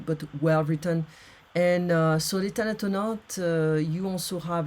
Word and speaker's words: Les Thanatonautes: It's called, in French, the pronunciation is Les Thanatonautes by Bernard Werber.